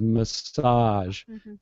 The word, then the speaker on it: massage: going to message you notice how I'm really hitting that second syllable uh in the second word massage meaning I'm gonna like rub your shoulders massage um so it's uh message massage notice I'm putting the accent on different syllables so the first one I'm going to send you a message I I'm going to stress that first syllable and I'm saying mess